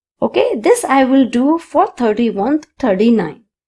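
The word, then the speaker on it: hay: Means in the class. There are four students in the class. I person. Okay. Again, H A Y is pronounced as I. The H is silent.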